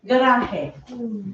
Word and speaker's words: garaje: we spell it, but they always pronounce it garaje. Garaje. Okay? Because, why do they do that? Because G's are sometimes have the H sound.